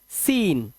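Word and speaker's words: scene: ऐसे ही सीन, सी साइलेंट।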